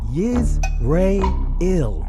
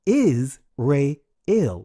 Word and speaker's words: Israel: Altogether, they are pronounced Yiz-Ray-Il or Is-Ray-Il. Is-Ray-Il.